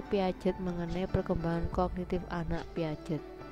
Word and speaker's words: Piaget: mengenai perkembangan kognitif anak Piaget piace atau Piaget ya bacanya Terserah Bapak Ibu loh selama periode ini